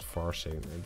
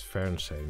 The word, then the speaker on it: Fernsehen: Yeah, no, that's not Farsehen. It's Fernsehen.